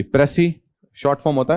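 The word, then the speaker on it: précis: उसे क्या बोलते हैं, प्रेसी। एस एस लास्ट वाला एस जो है साइलेंट होता है।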